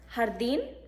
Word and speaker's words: jardín: The English letter J is J in Spanish, and it is pronounced like the English H. It makes a H sound, and it is never in Spanish pronounced like the English J as in jug. Some example words, jardín, juego, jueves.